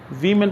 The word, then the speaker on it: women: हैं, they are वेमेन, वीमेन पढ़ेंगे, ये लफ्ज़ है ना, WOMAN, वुमेन, WOMEN ये जमा है, विमेन, इट is pronounced as विमेन, और ये वुमेन एक औरत को कहते हैं, समझ आया।